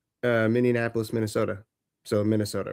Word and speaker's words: Minneapolis: to uh uh Minneapolis, Minnesota. So Minnesota, right? Did you say Minianapolis? That's a city, but it's it's Minnesota. Minneapolis.